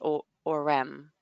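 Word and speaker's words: Orem: in this city and I called it aurum and there's people there that call it aurum there and it's just like wait there's no rum in there it's or REM if anything but huh like what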